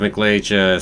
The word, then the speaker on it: McLeach: Sorry, not McLeay, McLeach. There we go. Pronounce it right.